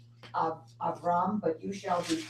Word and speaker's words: Abram: good reason yeah because if I had seen the Hebrew first right I would know to say abam and I said Abram because that's what I'm reading exactly if your goal is to pronounce the the names as they are rendered in the Hebrew the English is not your friend when you said AB